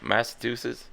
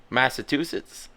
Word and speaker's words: Massachusetts: Massachusetts. Is that how you say it? Well, how do you say it? Massachusetts. I say Massachusetts. You don't have to pronounce the U.